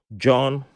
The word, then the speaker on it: Jawn: But the guys at the Tech John, and John is spelled JAWN.